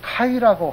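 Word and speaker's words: καί: 그냥 K는 키읔자 발음 나죠. 기역자나 키읔자요. 그래서 그 A가 아자 발음 나잖아요. 그리고 이가 있잖아요. 보면 그대로 읽으면 돼요. 카이 그래요.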